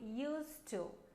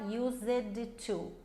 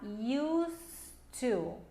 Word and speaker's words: used to: A gente não vai falar used to. A gente vai falar used to. Então é como se o D não existisse.